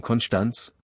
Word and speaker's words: Konstanz: Constance (prononcé Konschdanz) sur le lac de Constance est la plus grande ville du lac de Constance.